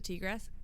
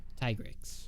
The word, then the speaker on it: Tigrex: And so just the fact, I mean, we need to get back in this weekend because we didn't defeat the T-Rex. Tigrex.